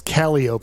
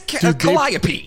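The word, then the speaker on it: Calliope: at Barone and kop streets wrong cop it's calop is how they pronounce it that's cop I know but they put dude there's so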